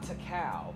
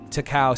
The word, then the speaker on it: Takao: don't think it's taco how do you pronounce k-a-o it's not tacal probably okay i was right okay takao said about me is how